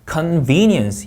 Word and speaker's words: convenience: convenience 이음절 강세입니다.